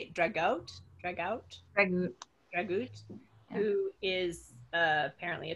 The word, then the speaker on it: Dragut: Dragout. Yeah. Who is apparently a Turk, and so it's like he's so invincible. And then Joleta breaks in, like, Dragut is only a man, a Muslim corsair in